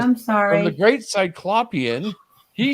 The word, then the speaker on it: Cyclopean: So I want to just say that the name Cyclopean is Cyclopean. We had actually Chris put a comment in a radio talk show for sports in our area, and you know how they pronounce Cyclopean? They said Cyclopean.